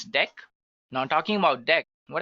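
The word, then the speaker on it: deque: written as DQ but we can pronounce this as deck now talking about deck what actually it is used for so deck pronounced as deck is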